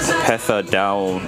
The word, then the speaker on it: Pesadão: about people's cars it's an upper hip five F Dow is how you pronounce it what does it mean I couldn't